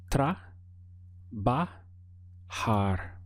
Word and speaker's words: trabajar: valise and la vida the verb to work is trabajar we have try bah-ha and to express working